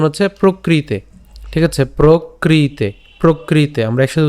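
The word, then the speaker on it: প্রকৃতেঃ: প্রকৃতে, ঠিক আছে, প্রকৃতে, প্রকৃতে আমরা একসাথে উচ্চারণ করব, প্রকৃতে, ঠিক আছে। এরপর ক্রিয়মানানি, ক্রিয়মানানি, প্রকৃতে, প্রকৃতে, খেয়াল করুন এখানে রফলা আছে, সো প্র উচ্চারণ করছি, ঠিক আছে, প কিন্তু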